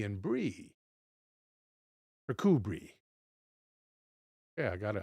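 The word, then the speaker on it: Kirkcudbright: For the last several centuries at least they seem I'm sorry they have remained deserted and even before that kubri thank you pronunciation on kudbrite kubri let me see if I can uh reassemble that pronunciation if I can find the bird.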